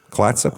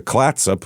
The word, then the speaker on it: Clatsop: Clatsop, I believe is how you say that.